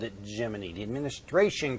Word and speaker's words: Gemini: Now it's supposed to be pronounced Gemini, like rhyming with your eye, but everybody started calling it Gemini, like ending with the joint in your leg, your knee, or sounding like Jiminy Cricket.